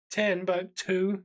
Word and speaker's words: Timbuktu: from City to the country from here to 10 but two so she wants three syllables she basically drop it off the edge